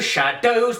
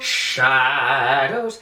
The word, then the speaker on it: shadows: Yeah, and don't do shadows, but shadows. Accent on the first syllable.